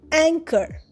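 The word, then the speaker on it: anchor: তার বাবার সম্পত্তির উত্তরাধিকারী অংকর এন সি এইচ ও আর অংকর অংকরেও এইচ সাইলেন্ট অংকর মানে নো মোর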